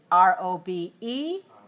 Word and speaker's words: robe: b is rob but if it's a silent e at the end r o b e then it's robe o because the silent e tells us to change the sound ah to the sound o so the most common